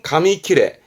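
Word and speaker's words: 紙切れ: 발음은 가미키레.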